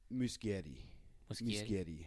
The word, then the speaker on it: Muschietti: My major gripe before this even came out was that Andy, how do you actually pronounce Muschietti? Muschietti.